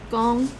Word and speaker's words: 講: Gong, 講 gong. Oh, it's a rising tone. Gong. So, gong. How do you say, to speak English?